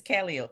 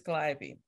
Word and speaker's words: Calliope: like adam in it it's calio it is not it is calliope that's burgundy no it's